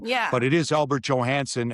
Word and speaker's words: Johansson: But it is Albert Johansson. And when he first came here, I said, "How do you want your name pronounced?" And he said, "Johansson." I said, "Good enough for me."